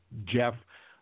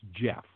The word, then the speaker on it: Gef: main Jack Jack and it preferred the name Jeff and what it said Jeff it was to be spelled you know like the old-fashioned way of spelling Jeff GE o FF but Jeff spelled it out phonetically and he spelled it GE F and